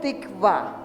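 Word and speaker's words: תקווה: de Israel la expresión se dice en hebreo tikva se escribe tikva se escribe con las letras vaf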